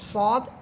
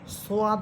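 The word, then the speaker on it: ص: আচ্ছা, সদ এটাকে অনেকে সোয়াদ বলেন, সোয়াদ, দোয়াদ, এগুলো কিন্তু ভুল উচ্চারণ।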